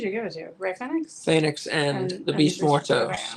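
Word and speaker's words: Fénix: It's Ray Phoenix. Phoenix. Phoenix. That's how it's pronounced. Phoenix.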